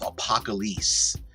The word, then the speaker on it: Apocalisse: And all of this is under the umbrella of APOCALISSE, is how it's spelled.